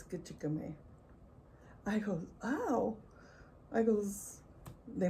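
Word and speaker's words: Gichigami: what's funny grandma and she just getcha goomy and he goes what is that not how you say it she goes no and that goes well how do you say it she goes it's kachikame i go wow michaels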